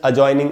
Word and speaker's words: adjoining: तो दोस्तों, एडजस्ट, अजॉइनिंग, इस प्रकार से। तो क्या रूल था दोस्तों कि जे के पहले अगर डी हो किसी भी वर्ड में, तो वो साइलेंट होता है।